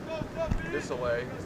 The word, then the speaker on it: Vilsoe: Hardest name ever to pronounce. It's not. You're just overthinking it. Vilsoe. Yeah. It's still hard to pronounce. Vilsoe. It does not add up with the spelling.